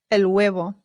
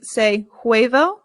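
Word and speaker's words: huevo: the word for egg the H in Spanish remember is always silent always always always I always hear Americans Sayo and that is not correct it is El good okay let's get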